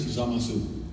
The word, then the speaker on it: Zamasu: zamasu or zamasu yeah because Japanese there's no there's no um uh what do they call that uh stresses like in an English word there's one syllable is stressed but in Japanese there's no stress so in Japanese it's zamasu and so we hear